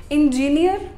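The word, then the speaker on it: engineer: इंजीनियर एक गलत pronunciation है। इस शब्द को प्रोनाउंस करेंगे इंजीनियर। क्या बोलेंगे? इंजीनियर। इंजीनियर नहीं बोलना है, इंजीनियर। ओके, स्ट्रेस थोड़ा लास्ट में, नियर, इंजीनियर। ओके, अब पढ़ाई लिखाई और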